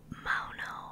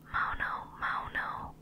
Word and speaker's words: Maono: from a company called Maono. I think that's how you pronounce it. Maono.